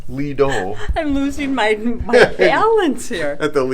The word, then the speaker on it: Lido: Lida? Yeah. Oh yeah, the Lida. That's how you say it. We had lunch at the Lido.